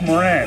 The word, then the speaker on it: Moran: I said, it's Moran. He says, no, it's not. It's Moran. That's how you pronounce it here, Moran.